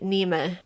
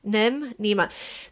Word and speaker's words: Niamh: Missing Nima. Nima. The name is spelt Neve in the traditional way, Niamh.